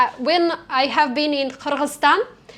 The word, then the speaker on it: Kyrgyzstan: And also when I have been in Kyrgyzstan, like they don't like when Russian people call them Kyrgyzia. They say no, Kyrgyzia, we are Kyrgyzstan. You should call us Kyrgyzstan.